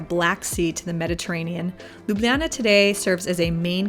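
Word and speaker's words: Ljubljana: time to visit slovenia's capital city lublana or lublana as I heard at least two locals say proudly embracing the legend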